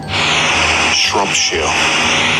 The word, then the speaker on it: Shropshire: It's just something about S-H-I-R-E words. The only one I can think of Americans actually pronouncing correctly frequently is New Hampshire, and we're not saying sure, we're saying New Hampshire.